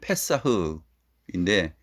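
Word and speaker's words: פסח: 히브리어로 패사흐인데 영어하고 발음이 좀 비슷하죠. 패스오버하고 패사흐하고 비슷합니다.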